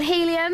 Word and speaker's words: Healy: It's a band called Helium. Helium, but they spell it funny. They do. H-E-A-L-Y.